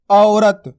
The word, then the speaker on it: औरत: आ औ की मात्रा औ र त औरत किस तरीके से उच्चारण हुआ इसका सिंपल देखो सुनो गौर से औरत इसी तरीके से आपको उच्चारण करना औरत इस तरीके से नहीं